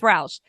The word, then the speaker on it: Rausch: I'm still going to call you ranch dressing, because if you spell it, it looks like ranch, but it's not. It's Rausch.